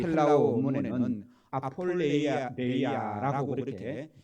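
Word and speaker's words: ἀπώλεια: 이 허비라는 단어가 이 헬라어 원문에는 아폴레이아라고 그렇게 이 발음을 하는데요.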